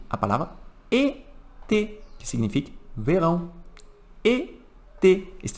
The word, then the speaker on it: été: Então, uma outra palavra que utiliza o acento agudo, que utiliza l'accent aigu, é a palavra été, que significa verão.